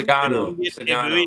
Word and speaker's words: Sugano: And, I mean, if we can get anything out of Zach Eflin, Grayson Rodriguez, Senguno, is that how you say it? Sugano? Sugano. Sugano.